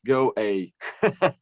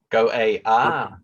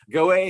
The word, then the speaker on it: Go_A: music and ukrainian culture yeah and it is pronounced go a go ah okay sorry oh it's a state in india gaway is us that's what i always thought go